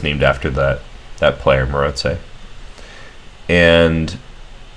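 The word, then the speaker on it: Maróczy: were hungarian and i believe in hungarian you pronounce this maroxy as morozei so that's definitely the accurate pronunciation um but more importantly this is the structure that's named after that that player moretze and it's it's pretty common you've probably already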